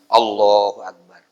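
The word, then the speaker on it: الله أكبر: Tapi bacanya jangan sampai salah. A-nya panjang, akbarnya panjang. Allahu Akbar. Batal. Orang yang membaca takbirnya seperti itu batal sholatnya.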